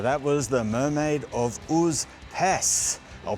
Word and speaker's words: Užupis: So that was the mermaid of Pes. I'll pronounce it correctly this time.